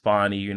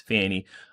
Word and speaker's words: Fani: name, where she's saying my name is pronounced Fani. They're trying to make fun or poke fun at my name and say it's Fanny.